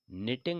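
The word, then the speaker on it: knitting: इज निटिंग य sweater तो यह निटिंग लिखा हुआ है के साइलेंट रहता है इसमें तो ट निटिंग यानी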